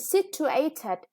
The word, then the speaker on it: situated: And situated, yeah, the third syllable is stressed.